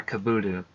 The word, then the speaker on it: Kabuto: pronounced something different yeah Kabuto I know it probably like it probably sounds like the way that you just typed it but it there's still a T in there it's just very subtle but yeah there there